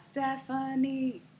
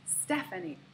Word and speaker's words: Stephanie: This is not Stephanie, it is Stephanie. So we stress the first syllable of my name the most, sta. The middle syllable is the schwa, Stepha, Stephanie. The last syllable in my name has secondary stress and is not a schwa.